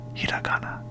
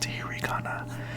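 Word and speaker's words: ひらがな: to pronounce it so the correct way to pronounce it is the hiana but if you want to say it like the Western way hirana so today I'm going to teach you the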